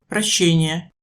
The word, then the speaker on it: прощение: La distinction entre les deux sons suivants est aussi souvent un problème. ша, ща, Comparer, прошение, demande, прощение, pardon.